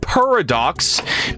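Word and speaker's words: Purradox: Oh, it's it's pronounced paradox.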